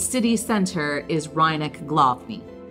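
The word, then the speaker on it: Rynek Główny: its City Center is reineck glofney the W's are always pronounced vs so we'll try to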